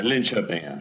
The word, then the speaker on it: Linköping: I pronounced that correctly? Yeah, Linköping.